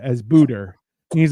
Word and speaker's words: Buddha: He keeps on referring to Buddha as Buddha. And he's like, Buddha's name be praised. And you're like, that's not how you say it. Why are you adding R's?